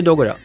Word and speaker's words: Dogura: Yeah, Dogura. It's just so he's just adding like a dramatic spin to it, but it's just Dogura.